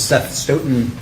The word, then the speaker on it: Seth Stoughton: Could you state your name and spell it for the record? My name is Seth Stoton.